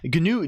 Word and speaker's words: GNU: happening isn't ganu like that yeah it's ganu GNU is stands for gnus not Unix um that's the that's the